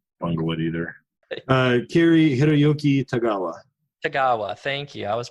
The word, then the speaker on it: Tagawa: Kiri Hiroyuki Tagawa.